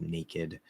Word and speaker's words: naked: So there are a couple exception words like naked.